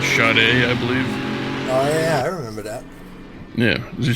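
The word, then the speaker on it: Sade: lady singer named spud it's spelled SAE that's it shut a I believe ya was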